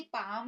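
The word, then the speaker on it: palm: एक मिनट बाद, L silent, वैसे तो एल सब जगह साइलेंट नहीं होता है, लेकिन कुछ ऐसी वर्तनी होती है जहां पर एल को साइलेंट रखा जाता है, यानी कि उसको नहीं पढ़ा जाता।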